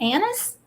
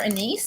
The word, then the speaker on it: anise: And if you want to toss in a little anise or anise, depending on how you want to pronounce that, A-N-I-S-E, then you can on any of the recipes.